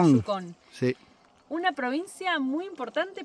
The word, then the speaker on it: Yukón: Yucon, creo que en español tiene acento en la O, así que sería Yucon.